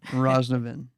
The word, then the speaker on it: Roznovan: Today I have Stella, and I'm worried about pronouncing the last name. Roznovan. Roznovan.